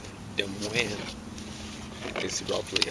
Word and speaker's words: Des Moines: Des Moines is roughly how they say it, capital of Iowa. They just have trouble pronouncing French.